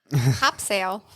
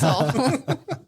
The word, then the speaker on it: Topsail: It's like top sale. Yeah. No, it's topsail.